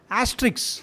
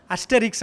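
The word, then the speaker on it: Astérix: For example, 2 வருஷத்துக்கு ஒரு தடவை ஆஸ்ட்ரிக்ஸ் அப்படின்னு சொல்லிட்டு ஒரு பாப்புலர் கேரக்டர் இருக்குது. நம்ம தமிழில் புலி அப்படின்னு ஒரு படம் எடுத்தாங்க இல்லையா, அதனோட ஒரிஜினல், சரிங்களா? அஸ்டெரிக்ஸ் அப்படின்னு அதை ப்ரொனவுன்ஸ் பண்ணணும்.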